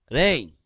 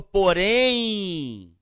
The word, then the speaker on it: porém: Eu tenho o M finalizando a sílaba. Então, o que ele fará? Ele vai indicar som nasal, a vogal anterior, e ele terá ou som de I ou som de quê? U.